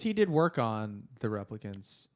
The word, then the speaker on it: replicant: replica I don't applicant replicant I don't want him to correct you but I'm saying it I'm saying it wrong you said replica twice now and it makes me want to kill myself replicant Rebecca it's Rachel